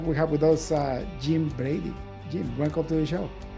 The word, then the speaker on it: Jim Brady: today we got we have with us uh Jim Brady Jim welcome to the show thank you David